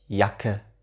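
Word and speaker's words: Jacke: 영단어 인 쟈켓 뜻 쟈켓 이란 단어를 도기로 에서는 이야 캣 이 약해 이렇게 j 소리를 가지지 않고 y 소리를 가진 채로 발음 하게 됩니다 그다음 알파벳 쿤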